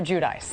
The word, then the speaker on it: Giudice: name okay okay so we're all supposed to call you Teresa judice right not Jud Jud I mean that's the Italian way but nobody knows how to say it I mean you know how to say it but you know what I'm Joe and I are fine with saying judies so it's Teresa and Joe judis correct all right we've set